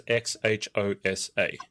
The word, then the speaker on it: Xhosa: How do you pronounce XHOSA?